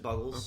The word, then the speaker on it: Buggles: So that one was originally done by the Buggles, but or is it Bugles? Do you say Bugles? I pronounce it Buggles.